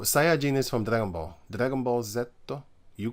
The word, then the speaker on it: Dragon Ball Z: you call it dragon Dragon Ball Z that name I hate this it's Dragon Ball Dragon Ball zetto so that's the name you say it how they say it b d it